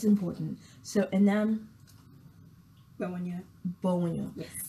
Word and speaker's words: Gbewonyo: Gbewonyo. Yes. I think it's a W that throws me in the name. Because I'm used to silent letters. And I'm thinking, is that silent? Is that not?